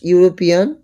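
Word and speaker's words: European: by Swami Vivekananda dash ইউরোপিয়ান এন্ড ইউরোপিয়ান dash honest man and honest man এখানে একটা ভুল রয়েছে দিস ইজ এ হবে ড্যাশ ইউরোপিয়ান তো ইউরোপিয়ানের ইউটা ইউ উচ্চারণ হচ্ছে আর ইউ হলে এন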